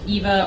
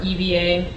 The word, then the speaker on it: EVA: the it's also called 2 pound Eva or Eva it pronounced different ways uh closed cell foam